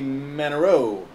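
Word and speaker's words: Manoux: Manero. It's one of those French word names. Yeah. With the X. Right, the X is silent.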